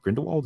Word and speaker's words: Grindelwald: McGonagall, and the relationship between uh Dumbledore and Grindelwald. Is that how you say his name? I Yep, hadn't said it out loud yet, so I Grindelwald.